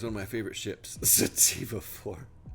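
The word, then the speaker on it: Tantive IV: of my favorite ships sativa 4 yes that's the that's the actual way you pronounce it some people say it tantive for which is incorrect and apparently tantivy for is incorrect it's sativa for just so you all know TK uh educating people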